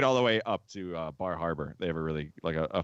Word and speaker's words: Bar Harbor: it's, So it's I'm only from Indiana, but I believe it's pronounced Bahaba.